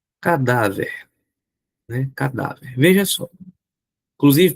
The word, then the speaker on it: cadáver: Cadáver. Qual é a sílaba tônica de cadáver? Cadáver. Tá aqui, ó. Show de bola. Última, penúltima ou antepenúltima? Penúltima, professor.